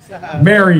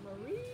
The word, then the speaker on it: Mari: did on the video Mari Mary you said Marie Marie so it was for